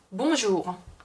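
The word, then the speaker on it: bonjour: 근데 절대 한국어에서 막 르로 표기가 되는 경우가 많은데 절대 르가 아니에요. 봉주르가 아니라 몽주르. 몽주르 해서 약간 히읗 발음에 더 가깝다고 보시면 돼요.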